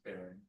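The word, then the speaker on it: Berend: Barund? Baron. I'll spell it, B-E-R-E-N-D.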